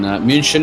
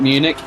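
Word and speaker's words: München: in munich in uh in moonshine as they call it not munich um sorry i have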